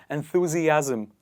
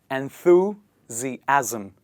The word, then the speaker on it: enthusiasm: The next word that is similar to this one is enthusiasm. And how do we pronounce it? Please repeat after me. Enthusiasm.